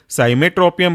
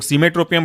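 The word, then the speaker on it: Cimetropium: साई में CIME, ट्रो TRO, ट्रो, और पियम पहले से PIUM, साइमेट्रोपियम ब्रोमाइड, या ऐसे कई लोग सीमेट्रोपियम ब्रोमाइड कहते हैं। वो उच्चारण अपना अपना अलग अलग होता रहता है एसेंट की वजह से।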